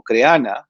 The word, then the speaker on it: Crehana: Otros temas que ustedes pueden aprovechar mucho, plataformas como Creana, por ejemplo, Creana se escribe Crehana, Creana, por ejemplo, está capacitando